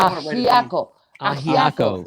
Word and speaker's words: Ajiaco: Ajiaco. It's AJIACO.